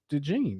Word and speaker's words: Dejean: I say the June because it's spelled like the June like he sounds like he should be black. Um, It's spelled Dejean, like jeans. is it?